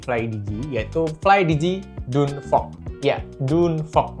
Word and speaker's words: Dune Fox: Ya, Dunfog. Bacanya bukan Danfog ya, tapi Dunfog.